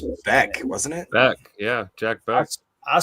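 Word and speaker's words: Bech: Beck, yeah, Jack Beck.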